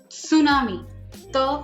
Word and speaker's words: tsunami: spelling and you have and t is not silent t is not silent it's tsunami so together tsunami and from there you